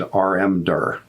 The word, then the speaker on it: rmdir: The commands for creating and removing directory files are called, we pronounce them makedir and rmdir.